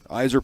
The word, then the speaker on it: Yzerman: So they've had a real, and credit to the Yzer plan. That's how it's said properly.